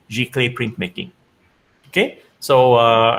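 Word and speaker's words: giclée: is pronounced as clay it sounds like clay so g clay g clay print making okay so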